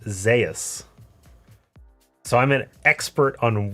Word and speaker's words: Zeus: top laner is uh his name is spelled Zeus like the god of thunder right the sky yeah okay but it's pronounced Zas so I'm an expert on weird Zeus Zas zus whatever zos it's not Zeus I'm